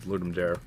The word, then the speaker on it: Ludum Dare: does it start it's I think it's actually ludum Dar but everyone pronounce it pronounces it ludum dare that up it's uh um it's Latin it should be Dar so but I again